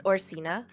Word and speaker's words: Orcina: okay anywho it's fascinating also it's orcina just uh have i been saying it wrong yeah anyway yeah pinch